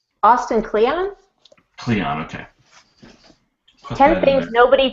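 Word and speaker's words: Kleon: how do you say his last name austin cleon cleon okay ten things nobody told you about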